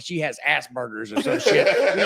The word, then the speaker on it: Asperger's: And I thought it was Asperger's. Yeah. And it's not. It's Asperger's. Asperger's. You gotta pronounce. I've been putting ground beef in it the whole time, dude. Like, I've been straight burgering it.